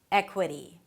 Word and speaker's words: equity: So not "eh-kweh-dee", not "eh-kwah-dee". "Eh-kwuh". Flap T and then a high E - "dee" "dee" "dee" "dee". Equity. Equity. Primary stress on the first syllable - "eh".